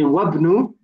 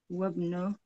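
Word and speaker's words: وَابْنُ: That Hamzatul Wasl, that alif, yeah, we only pronounce it at the beginning of a sentence, so we ignore it. And we say Wabnu. Wabnu.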